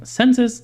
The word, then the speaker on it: Censys: Census, on the other hand, focuses on internet-connected hosts, websites, certificates, and other internet assets is how you pronounce that word.